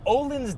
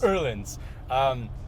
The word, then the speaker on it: Öhlins: But what I do like is these Öhlins dampers, which are great. However, lots of however in this video. Wait, did you say it right? No, and I'm not going to ever again. Öhlins.